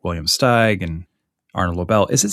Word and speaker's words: Steig: I probably said Steeg for the next half hour, too. No, I'll I'm lucky if someone says it first, and then I know what at least in that interview what it's how you say it. I'm pretty sure it's Steig.